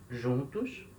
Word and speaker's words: juntos: jantar com jantam todos juntos atenção palavra juntos só se escreve igual português até prestar muita atenção que a letra j em espanhol tem som de R então é juntos aí